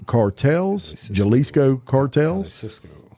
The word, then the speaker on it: Jalisco: defeating the caloa and jalas cartels Jalisco cartel Cisco how how do you say Hal Cisco there you go hi Cisco I that because they